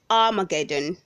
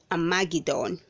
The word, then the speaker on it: armageddon: we have armageddon armageddon say armageddon not a magidon verb number 31 we